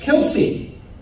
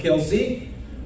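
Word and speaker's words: Kelce: I'm speaking, of course, of Travis Kelsey. Rather confusingly, he calls himself Kelsey, while his family uses the pronunciation Kels.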